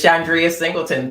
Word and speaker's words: Chandria Singleton: just in case I mispronounce her name, but Chandria Singleton. Okay, sorry. Hello. Did I say it right? Yes, you did. It's Chandria Singleton.